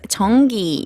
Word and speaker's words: 전기: 바로바로바로바로바로 바로바로 바로바로바로바로 전기입니다 제 is answer is 전기 in English It would be electricity or power